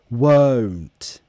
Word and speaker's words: won't: 100 won't won't won't exaggerate the movement to really practice it won't won't oh-oh-oh see how my my jaw my mouth closes and the lips they close to Oh phone phone go